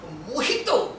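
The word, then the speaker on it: mojito: কথাবার্তা বলছে ওটা মজি তো নয় মোটেও ওর উচ্চারণ মহিত স্প্যানিশ কিনা ওই ভাষায় জকে হ উচ্চারণ করা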